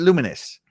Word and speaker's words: Lumines: Sorry, it says you pronounce it Luminous.